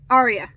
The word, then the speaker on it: Arya: I had actually had to look it up and see how to pronounce that person's name, but that's what it is, Arya.